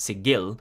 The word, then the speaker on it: Sigil: when you mention planescape most who are familiar with the setting will think of sigil that's sigil with a hard g by the way burke